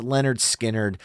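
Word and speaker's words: Lynyrd Skynyrd: From their incredible 1973 debut studio album, Pronounced Leonard Skinnerd, which is such an amazing listen between Gimme 3 Steps, Simple Man, Tuesday's Gone, and then obviously Free Bird.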